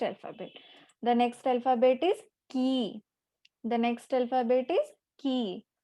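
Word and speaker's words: き: It is pronounced as ki.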